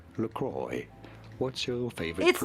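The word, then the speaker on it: LaCroix: Laqua. That's what I used to think you said it as. But being an American brand, it is to be said as Lacroy.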